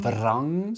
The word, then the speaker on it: vrang: Vrang. So rett, we spell that R-E-T-T. So you just say rett. And vrang, which is pearl, is vrang. V-R-A-N-G.